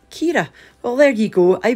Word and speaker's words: Chiara: current storm is called Chiara an Irish name pronounced Kiera well there you go I was pronouncing it wrong I wasn't sure if it was Ciara or Cara or well there you go is Keita so